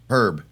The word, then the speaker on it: Herb: oh you played herb herb no you don't you don't pronounce the h okay herb you call